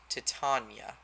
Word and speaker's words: Titania: It's actually pronounced Titania.